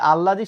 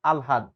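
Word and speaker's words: আহ্লাদ: শব্দের এসেছে আল্লাদ থেকে দেখো আমরা বলি আল্লাদ কিন্তু আসলে উচ্চারণ হবে আলহাদ এটা কিন্তু আমরা ভুল করি মানুষ বলে নাই এত আল্লাদ করে লাভ নেই এটা কিন্তু আল্লাদ না এটা হচ্ছে আলহাদ ঠিক আছে মনে যেন থাকে এটা দরকার নাই।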